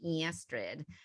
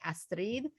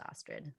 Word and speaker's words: Astrid: new york accent of people calling me estrid uh was uh was something that i i changed the pronunciation when i was younger and i have stuck with that but if you can pronounce my name and roll the r's and you say astrid that's that's great but mostly it's just astrid so and my sister's